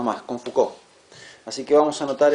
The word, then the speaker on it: Foucault: Fíjense que el apellido se escribe Fult, pero se dice Foucault. Foucault.